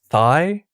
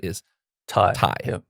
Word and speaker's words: Thai: no not really um they just either say thigh like uh like with the th yes but uh or thai like thailand yeah okay but the